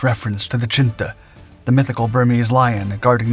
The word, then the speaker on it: chinthe: This unit was eventually dubbed the Chindits, a mispronounced reference to the Chinta, the mythical Burmese lion guarding the region's temples.